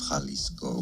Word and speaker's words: Jalisco: How to pronounce the name of this city and the surrounding municipality in the Mexican state of Jalisco.